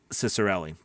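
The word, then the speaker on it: Ciccarelli: says yup david the ceo of voices is pronounced uh cicerelli thank you they're canadian too from london ontario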